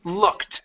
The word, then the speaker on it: looked: Okay, it's looked. The e is silent and the d will sound like a t.